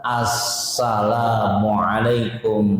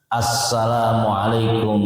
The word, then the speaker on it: Assalamualaikum: Dan dalam pengucapannya harus tepat. Maksudnya apa? Jangan dipotong-potong, jangan dikurang-kurangi. Apa maksudnya? Sempurna. Assalamualaikum warahmatullah. Asnya baca. Assalamualaikum warahmatullah. Assalamualaikum warahmatullah. Saya kadang-kadang suka dengar orang bacanya nggak pakai as, main singkat baik.